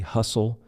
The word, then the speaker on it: hustle: Silent T, hustle, STLE. Lots of times words with STL will have a silent T, hustle, or often, silent T, often, soften.